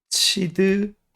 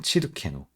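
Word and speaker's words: צדקנו: 체다카 예 그런데 이제 이게 우리라는 말하고 같이 붙으면 약간 발음이 바뀝니다 그래서 바로 지금이 부분인데요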